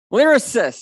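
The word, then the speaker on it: Lyrasis: Orcutt from, I have never learned how to pronounce it, Lyracist, okay, I have just learned that.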